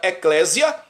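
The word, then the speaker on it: ἐκκλησία: que fundou a igreja a palavra igreja vem do grego estudei o grego hebraico aramaico no grego se pronuncia Eclésia tá muitos cristãos já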